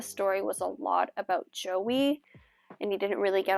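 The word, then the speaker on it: Aoife: to pronounce it wrong I've looked it up so many times and I think it's e but it's spelled a o i f e so it's like IO e I'm not sure but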